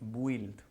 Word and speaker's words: build: Una cosa, ojo con la pronunciación del verbo nuestro para construir. ¿Ok? Hay una tendencia aquí en España de decir build. ¿Ok? Lo cual no es cierto. Hay que decir build, como si fuese B y latina LD.